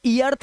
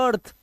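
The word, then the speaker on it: earth: आवाज अर्थ पृथ्वी को इसलिए इयर्थ नहीं बोलते ठीक है इसलिए अर्थ भी नहीं बोलते इसे बोलते हैं अर्थ अर्ली डर्थ डर्थ इसीलिए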